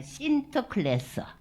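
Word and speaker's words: Sinterklaas: 근데 네덜란드 사람들은 이를 이거를 이제 라틴어로서는 산투스 니콜라우스라고 나오는데 여기 네덜란드 발음으로서는 뭐라고 하느냐면 신터클래스, 신터클래스라고 해요 발음을.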